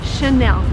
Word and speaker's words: Chanel: just behind me and the right way to pronounce it is again in french because it's from france so the correct way to say this word is chanel and by the way